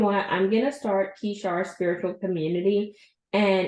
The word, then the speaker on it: Kishar: So, Kishar, why the name Kishar?